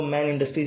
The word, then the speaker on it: Man Industries: पे देख सकते हो मैन इंडस्ट्रीज या फिर मन इंडस्ट्रीज ऐसा भी चाहे तो आप यहां पे कह सकते हो लार्जेस्ट मैन्युफैक्चर जो आपको कहना है कलो कंपनी का नेम या स्पेलिंग वही रहने वाली है ठीक है तो